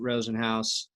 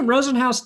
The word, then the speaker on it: Rosenhaus: threw through bag of gummy dicks and that was the last straw for Drew Rosenhaus was it Hoss our house house house yeah should be spelled like house from house it's got a big